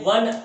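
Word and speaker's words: one: से प्रारंभ हुई हो, लेकिन उच्चारण करने पर वहां पर हमें व मिलता हो, तो ऐसी स्थिति में आर्टिकल ए का ही प्रयोग किया जाएगा। जैसे ए वन आइड मैन, एक आंख वाला आदमी, मतलब एक काना व्यक्ति।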